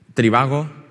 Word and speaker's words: Trivago: Si yo os digo Trivago, diréis, ¿por qué lo dices tan juntos? Si es Tri-va-go.